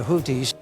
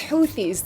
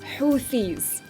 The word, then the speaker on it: Houthis: able to stop the houis houis those guys in Yemen right it's houthis there's a th in the word houthis I know this one